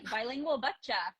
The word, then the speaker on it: Bilingual Bachcha: Bilingual Bachcha.